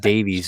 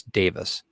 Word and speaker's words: Davies: I've been called Davis a lot, over the years, and Davies is my name, but it's over over in the UK though, it is Davis, the way they pronounce it.